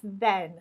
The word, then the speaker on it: then: It wasn't until then that I realized, not than. Okay, there are very subtle differences in pronunciation. Make sure you get the right one, because sometimes I do hear this being used and you get a little bit confused. So it's then, not than.